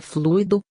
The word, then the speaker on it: fluido: fluir afal porque esta confusão acia correta é fluido Mas sem o acento não é fluo como